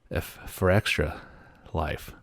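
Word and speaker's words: Fextralife: noisy pixel and uh f for extra life is how you say that it's extra life with an f at the beginning of it i've not heard that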